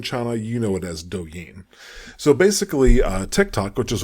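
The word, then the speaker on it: 抖音: It's spelled Douyin and pronounced Douyin.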